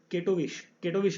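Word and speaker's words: Katowice: तो इसका जो होस्ट किसने किया है, तो 131 का करेक्ट आंसर होगा कटवाइस, केटोविश आप इसे प्रोनाउंस कर सकते हैं, केटोविश जो जगह है वहाँ पर हुआ है।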